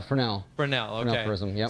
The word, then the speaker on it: Fresnel: It's not Fresnel. That's how a lot of people are Fresnel.